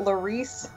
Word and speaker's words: Laurice: do you say that Laurice yeah yeah oh yeah cuz it's like it's Lawrence but it's not Laura it's not Larry it's the Reese cuz he's French I guess it's Laurie's cuz she's Alize mr.